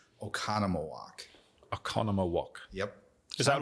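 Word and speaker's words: Oconomowoc: We have a lot of Native American history in the state of Wisconsin, so it's actually pronounced Oconnomowoc.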